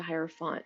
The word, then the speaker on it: hierophant: the high priest is the hierophant and the tarot or the higher font however it is that you want to pronounce it there's so many ways uh tarot decks are pronounced and specific major cards are pronounced that it's the hierophant that's how i say it so it's the